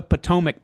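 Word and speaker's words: Patowmack: He also writes the Potomac Packet, that's spelled P-A-T-O-W-M-A-C-K, the Potomac Packet, on Substack, an ongoing collection of articles on the history of Washington, D.C.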